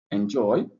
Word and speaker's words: enjoy: word was u okay let me say enjoy enjoy. All right so joy is pronounced louder than the end.